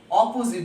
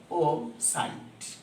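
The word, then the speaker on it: opposite: বিপরীত ইংরেজি আমরা দেখেন অপোজিট বলতেছি, কিন্তু আপনি উচ্চারণটা এইভাবে করেন, অপোসাইট, অপোসাইট, অপোজিট, অপোসাইট দিক দিয়ে ডিরেকশন, অপোসাইট ডিরেকশন।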